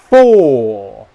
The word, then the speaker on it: four: The first word, four, four, four. Okay, that's how you say it correctly. Four. The other word, fur, fur, fur. We don't like wearing fur. Okay? Do not do this. Four, four, four. Okay? Not good.